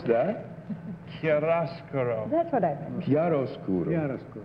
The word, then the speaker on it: chiaroscuro: Number 2, what does chiaroscuro mean in connection with paint? That's what I meant. How do you pronounce that? Chiaroscuro.